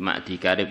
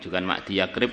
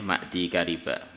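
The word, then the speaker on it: مَعْدِي كَرِب: Wa 'anil Miqdam ibni Ma'di Karib, di Ma'di Karib, bukan Ma'di Yakrib loh bacanya ya, Ma'di Kariba. Tulisannya aja yang gandeng, tapi bacanya tetap Ma'di Kariba.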